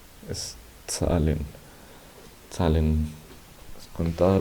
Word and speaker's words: Zahlen: Esa T, esa Z siempre suena como una T, Z, como cuando decimos pizza. Ese pizza, ese tz, es el mismo de Zahlen. Siempre que damos una Z en el alemán, se pronuncia así, como la doble Z de pizza.